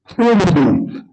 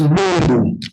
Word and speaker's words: mbu: no, mosquito is umbu. We put umbu, but the right spelling is umbu, M-B-U, but you pronounce it as umbu.